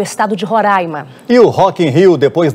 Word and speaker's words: Roraima: o nome do estado eu já aprendi há muito tempo que é roraima até porque se eu